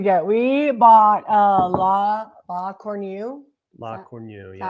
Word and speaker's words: La Cornue: La Cornue, That's yeah. how you pronounce it.